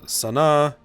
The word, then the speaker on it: Sanaa: 2019 Yemen has captured the strategic city of Sanaa and Yemen that's how you pronounce that though the city is in ruins